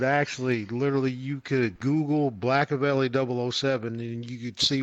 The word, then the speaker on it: BlackAvali: So, and the one album BlackAveli, well, I'm biracial. I'm biracial IRL. So I was just like, something that rhymes with Machiavelli. I was like, oh, BlackAveli.